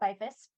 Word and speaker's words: Beyfuss: spell your last name since it doesn't it does not pronounce exactly how it's how it looks and social media website all that good stuff so pretty much everywhere i'm byfus so i have my